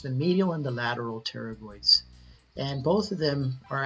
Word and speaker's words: pterygoid: the mandible and again the actions of the pterygoid x' we're going to cover the medial first and it's pronounced pterygoid is the action is going to be to